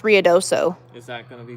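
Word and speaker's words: Ruidoso: ruds not um it says riodoso yeah it's riodoso it's actually pronounced riodoso is that going to be going but how's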